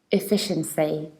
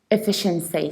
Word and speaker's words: efficiency: so all mistakes possible it's not a it's not fee it's not sheer and the stress isn't placed on the third syllable it's efficiency efficiency so i don't say i say it i reduce the beginning eh then i stress feel like fish fe then i reduce shin and say efficiency efficiency and when